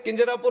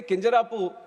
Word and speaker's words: Kinjarapu: And my name is Kinjarapu Ram Mohan Naidu. And when some people say Kinjarapu, there might be some problem with them.